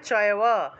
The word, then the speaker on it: চৈব: তপোদম্ভেন চ, তপোদম্ভেন চৈব আছে, উচ্চারণ হবে চয়ব, চয়ব।